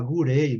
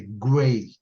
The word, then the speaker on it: Grey: Aí você fala gurei, né? Gurei. Aí até você... Aliás, a forma de falar, eu não tenho como falar por você, né? Isso é impossível, né? Você que vai ter. O certo é assim, Grey você não pode falar. Grey. Uhum. Grey não pode. Certinho? Tá errado. Uhum. Tá errado. Grey. Não é. É Grey. Grey.